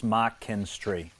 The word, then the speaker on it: McKinstry: It's basically 3 syllables, McKinstry. So you say it quickly like an apple mac. You say kin like next of kin. You have the S in there, but then tree, like a tree in your garden.